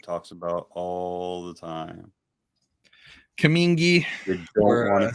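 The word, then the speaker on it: cumingi: She's a yellow-headed Asian water monitor, Varanus coming eye. You said it right. Coming eye.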